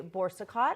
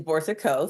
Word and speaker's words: Boursiquot: be everything to everybody the correct spelling the pronunciation is Bor Co so you are very